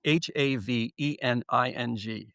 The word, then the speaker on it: Havening: It's spelled h a v e n i n g, Havening. Oh, just like it sounds.